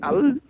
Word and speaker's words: El: El, ou appelé Al, c'est ça qui a donné Allah. C'est le même nom. Normalement, c'est prononcé El.